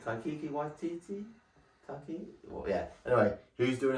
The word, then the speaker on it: Taika Waititi: Taika Waititi, I think that's how you say his name. Taika Waititi?